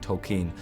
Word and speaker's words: Tolkien: was like, oh, that's not how you pronounce his name. So I'd walk around all day going Tolkien, Tolkien, Tolkien, so that I got that jammed into my head as the right way to pronounce the character's name I'm playing.